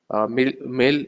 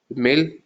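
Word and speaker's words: mille: Mil is, you don't pronounce the extra E here, the last alphabet.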